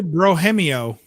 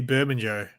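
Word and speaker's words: Bermejo: Lee Brohemio. What? I think it's pronounced Lee Brohemio. When I first started my channel, I used to call him Lee Bermanjo.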